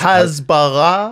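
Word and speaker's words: הסברה: Excuse me, but you're mispronouncing the word. It's Hasbara.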